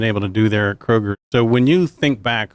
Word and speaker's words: Kroger: quick public service announcement to make it is pronounced Kroger not Krogers not croags not crochet now John we can